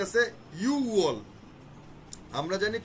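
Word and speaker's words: 유월: 6 নম্বর মাসে ইউগোয়ালের জায়গায় ইউওয়াল, আর 10 নম্বর মাসে শিবওয়ালের জায়গায় শিওয়াল।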